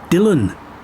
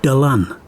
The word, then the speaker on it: Dylan: land's most famous Sun his name is often mispronounced as Dylan instead of dalan Thomas said that when he first left Wales